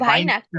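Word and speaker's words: Weihnachten: না ভাইনাকটেন ভাইনাখটেন হবে, ভাইনাখটেন।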